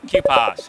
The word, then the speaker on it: QPAS: how do you say it sorry k-pops Jesus of course we had a modular synthesizer